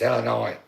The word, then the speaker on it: Illinois: Because people if you're like, oh, Illinois, it's Illinois. That's silent.